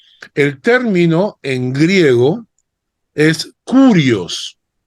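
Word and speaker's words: κύριος: Cristo es señor el término en griego es curios curios K u r i o s curios y es la traducción griega y escuchen bien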